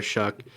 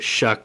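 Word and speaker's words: Shough: their quarterback, Tyler Shuck, I just put Shuck because that's how you say it. I actually was surprised. I was racking my brain on how to say it, and I looked it up, and he actually is the one who said to say it this way.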